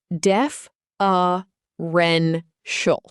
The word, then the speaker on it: deferential: The word is deferential. Pronounced as def uh ren shul.